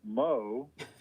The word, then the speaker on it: Meaux: joke of it, but I think it's true that yo rhymes with Mo. So I was kind of easy to remember.